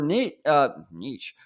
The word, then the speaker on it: niche: And like, that's their niche, whatever.